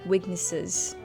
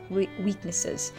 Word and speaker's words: weaknesses: So apparently I didn't do too well in the last "s" I should have said with the little bit of Z, weaknesses weaknesses.